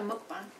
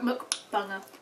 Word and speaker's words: mukbang: You're going to call it a mukbang. And how do you say that word? Mukbang, mukbang. Mukbang. It's spelled M-U-K, isn't it? So it's mukbang.